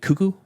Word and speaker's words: Cuckoo: got to watch loose is it cucko or Kaku it's C no it's cuckoo it's like a cuckoo bird cuckoo I guess so it